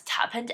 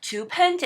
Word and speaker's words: Tuppence: the pronunciation of the word, which I thought pronounced as Twopence, actually addressed in the story. It seems like it was pronounced Twopence, and I am excited to meet 2 more